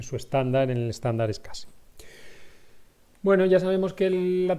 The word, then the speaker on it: SCSI: Esta conexión antigua en paralelo, a lo mejor lo veréis todavía como el SCSI, Small Computer System Interface, SCSI, se pronuncia SCSI, que era un protocolo inicialmente paralelo, ¿no?